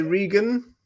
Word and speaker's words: Regan: Tom Reagan Tom Regan I always say Reagan about I know it's wrong but um I think it's I think it's Regan for some reason I I think he I think he pronounced it Regan but for some reason I've always said Reagan I mean it was